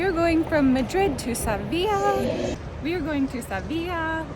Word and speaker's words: Sevilla: welcome to sevilla i was saying seville for the longest time and then i'm like it's probably pronounced differently and sure enough it is so we're here in